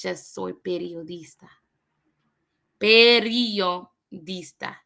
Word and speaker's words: periodista: Let's just be happy that it's just soy periodista. Periodista. Not periodista, periodista.